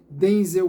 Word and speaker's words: Denzel: ah, dizendo que o seu nome não se pronuncia dessa forma, Denzel Washington, né, mas sim Denze Washington, como estamos acostumados.